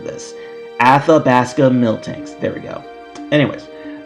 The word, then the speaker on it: Athabasca: was it who was it uh of the alabaska uh Mill tanks at the basket one minute later miltanks at the basket miltanks I always have a hard time pronouncing this Athabasca miltanks there we go anyways um so yeah